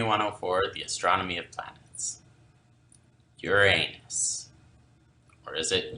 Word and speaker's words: Uranus: Uranus, or is it Uranus? Technically, the mythical god that the planets named after is pronounced more like Uranus.